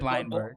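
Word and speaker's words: Bleijenbergh: I probably butchered that name. There's no way I got that 100% right. I told you we were going to have some more difficult names here, but Blindberg. It's Blindberg.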